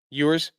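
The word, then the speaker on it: Ewers: Quinn Yurs or Elers, how do you say it? Users, he went five for eight for 53 yards.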